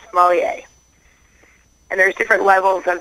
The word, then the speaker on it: sommelier: Chris is a sommelier, which is spelled S as in Sam, Ommellier, and it's pronounced sommelier.